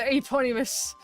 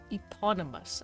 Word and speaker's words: eponymous: There, the Eponymus. I'm the pony. Watch my girlfriend message Blender Unity for making VR chat models, and like how much more complicated. Yeah, it is it's pronounced eponymous.